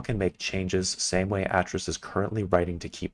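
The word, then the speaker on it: Atrus: Also, just an FYI, Atris is pronounced like Atris, not Atris.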